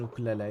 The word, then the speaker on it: ukulele: Turkish pronunciation is virtually the same as the original Hawaiian pronunciation ukulele.